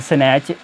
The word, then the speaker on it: snatch: मैं यहाँ भी एग्जांपल भी दी गई है कि स्नैच SNATCH, अब टी यहाँ पे आया हुआ है और उसके बाद CH है तो यहाँ पे प्रोनाउंस नहीं हो रहा।